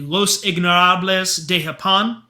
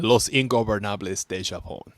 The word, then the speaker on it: Los Ingobernables de Japón: Naito, Takagi are part of the Los Ignorables de Japón. I know I jacked that up. I'll slide in. Los Ingobernables de Japón.